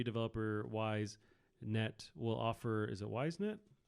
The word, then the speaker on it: YSNET: Oh, it could be pronounced EaseNet. EaseNet? But I just say that because of the game Ease that's spelled YS.